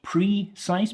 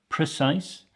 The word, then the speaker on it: precise: we have precise precise again not preise but pre precise this is an adjective